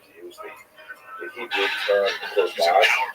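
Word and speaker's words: Churban: They tend to use the Hebrew term korban, usually pronounced the Ashkenazic Yiddish pronunciation korban, which ties the Holocaust to the great destruction of the temples in Jerusalem in ancient times.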